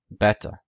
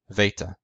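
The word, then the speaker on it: βήτα: the similarity between them beta In classical Greek it was pronounced beta in coin Greek it was pronounced Veta in modern Greek it's pronounced Vita now again for those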